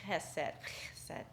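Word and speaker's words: חסד: And you actually say it like hesed, right? Hesed, right?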